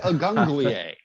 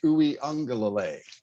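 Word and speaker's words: Uiagalelei: Evan calls him DJ Agunglier. My personal favorite mispronunciation is DJ Ukulele. Yeah, I heard that one. Actual name DJ Uiungalele.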